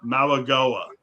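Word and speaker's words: Mauigoa: And by the way, I got the proper pronunciation too, believe it or not. Malagoa.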